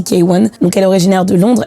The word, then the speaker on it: KWN: La première artiste que j'aimerais présenter s'appelle K1. Donc ça s'écrit KWN mais ça se dit K1.